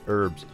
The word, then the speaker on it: herbs: They always say herbs. They pronounce the H, herbs.